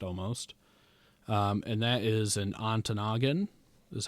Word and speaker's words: Ontonagon: And that is in Ontonagon, is how you say it, or Silver City.